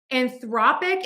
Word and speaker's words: Anthropic: Anthropic is confusing because we have that ic ending. And when you have that IC suffix on a word, we are going to shift the stress just before the ic. So we have anthropic, anthropic.